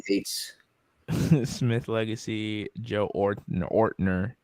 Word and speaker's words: Ortner: Joe Ortner says just like it's spelled. So Ortner.